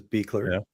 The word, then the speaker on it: Beckler: Yeah, some people think it's Bller or something. It's Beckler.